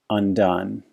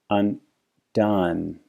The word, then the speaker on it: undone: Undone. And in that example, you see that the first syllable was the schwa and the second one was the turned V. Undone.